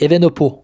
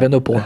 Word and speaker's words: Evenepoel: Alors Evenepoel, il a dit dans la prononciation sur le site des Jeux Olympiques, c'est Evenepoel. Voilà. Evenepoel.